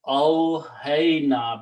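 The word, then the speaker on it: أوحينا: So when we write down these together, it is pronounced awhayna, because the sound of this ya, alif maqsura, changes into the sound of a ya with the two dots, which is the way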